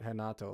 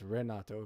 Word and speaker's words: Renato: it's Renato isn't it I don't think he pronounces it henato like the Brazilians do I think it's Renato Vega um I liked his